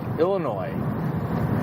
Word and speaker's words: Illinois: of Chicago Highland Park Illinois if I ever hear you pronounce the s in Illinois we might have words okay the same but